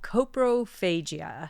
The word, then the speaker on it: coprophagia: How do you pronounce the medical term for that? It's called coprophagia.